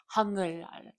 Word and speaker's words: 한글날: I just want to say, so you're not reading incorrectly. That's that's how it's said. 한글날. It just right. goes right into it.